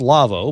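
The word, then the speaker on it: Lawo: to go to the lavo website l-a-w-o it's german name it's it's pronounced lavo but it's l-a-w-o and go um go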